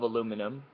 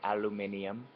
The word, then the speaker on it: aluminium: So, this is milled out of a solid block of aluminum, or as the British say, aluminium.